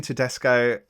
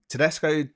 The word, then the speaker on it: Tedesco: it's I've done it wrong it's it's Julian Tesco H it's julan Totino Tesco is my number